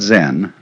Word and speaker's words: Zen: So then, this word Zen is Japanese way of pronouncing the Chinese word Chan, which in turn is the Chinese way of pronouncing the Sanskrit word jhana.